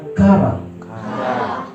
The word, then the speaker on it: qara: Sama-sama katakan kara. Bukan santan kara ya. Ini Q. Kara. Bacanya memang saya lihat begitu, kara.